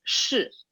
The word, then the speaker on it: 是: It's 是 So like a little heavier on the sh.